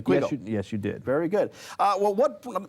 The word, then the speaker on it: Quiggle: Did I pronounce his name correctly? Quiggle?